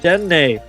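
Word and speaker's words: Dedenne: And, oh, my favorite little Mighty Mouse, Dene. That's how you pronounce it.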